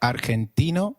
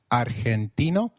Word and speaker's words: argentino: Did you notice that argentino is pronounced as argentino. In Spanish, G when followed by e or i is pronounced like a throaty h. So try saying argentino again.